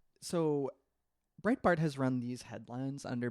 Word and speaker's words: Breitbart: Brayhart, is that how you pronounce it? His company. Steve Bannon had a publishing company that he sort of inherited or whatever. Breitbart.